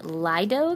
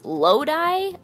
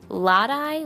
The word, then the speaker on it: Lodi: exciting I was in Lido California I still don't know how to say the word no it wasn't C I wasn't even close Lodi I mixed the vowels around lot eye Lodi it's this little tiny